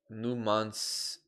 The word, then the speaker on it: Numancia: Crew, you actually pronounce it Numancia. Numancia? Oh, you do just pronounce it that way.